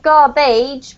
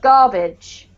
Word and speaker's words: garbage: first syllable constant good this one here is not garbage but garbage garbage yep and the last one